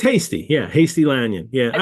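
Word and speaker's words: Hastie: the jaal thing yeah I don't know how to pronounce Dr lanyon's name and I love it but I don't Hasty oh it's Hasty yeah Hasty lanon yeah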